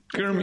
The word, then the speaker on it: Shermy: Usually pronounced like Kermy. Shermy.